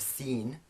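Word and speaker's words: س: We have sin, which is the English s. The equivalent is the English s, words like sun.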